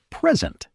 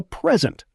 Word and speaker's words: present: like I got a present. But if I say present, that's a verb. I will present the report. Same spelling, totally different meaning, just based on stress.